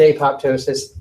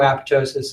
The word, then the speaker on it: apoptosis: on lysis that's fine you're not being graded on your ability to pronounce this word so if you pronounce it a pop ptosis that's okay I prefer if you didn't do it in front of me but I'm not going to take points off of anything for you pronouncing it that way that's what this tech